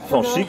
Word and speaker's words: Fanch: Le S peut très souvent se prononcer ch. Et en plus on enlève le R, c'est plus facile comme ça. Donc il reste Fanch.